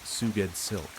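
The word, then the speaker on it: Sgoued Slk: S G O U E D S L K pronounced Suged Silk.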